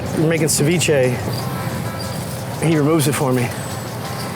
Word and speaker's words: ceviche: This is ceviche. Ceviche. Yeah. That's how you say it.